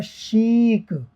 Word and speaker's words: chic: देखिए आप, CHIC थोड़ी देर पहले भी आया था, ये होता है शीक, श का साउंड दे रहा है।